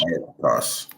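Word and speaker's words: ἄρκτος: Arctos. That's how you say it in the Greek.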